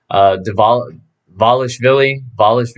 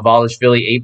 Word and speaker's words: Merab Dvalishvili: I'm sure I butchered that, but Dvalishvili. I think the D is silent.